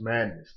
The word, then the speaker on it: Maddness: letter of the m letter pronounced madness the name madness aka